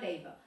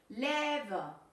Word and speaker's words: lever: Labor, no, but it's lever.